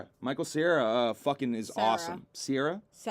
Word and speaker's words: Cera: Sarah. There's no I. I like to say it like the desert. C-E-R-A. Sarah.